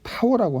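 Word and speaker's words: ת: 그 다음에 마지막 22번째 단어는 이제 타오라고 하는데요.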